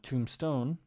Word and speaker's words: tombstone: tomb is tumba and tombstone La Pila or Piedra SE pul Coral I'm not sure which one Tombstone the um the bee is silent so in El Salvador